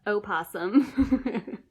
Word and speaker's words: opossum: Ollie the opossum. We pronounced the O on that.